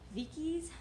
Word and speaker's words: Vieques: to the one on Vieques Vicki's the if they didn't pronounce it how I would have expected them to pronounce it in Spanish like Miki Vicki's this is what I was expecting anyway so you take a